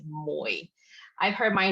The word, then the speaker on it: Mui: And my name has a diphthong in it. I know it's not even in the English language, but you basically hold the tone. It's a third tone. It's a diphthong, so it's Moi.